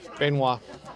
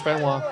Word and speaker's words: Benoit: Benoit. Benoit. It's like Chris Benoit.